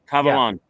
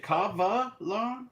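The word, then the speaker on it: Kavalan: Cavalon. Is it Cavalon or Cavalon? Cavalon. Cavalon. Oh, K A V A L A N. Yeah.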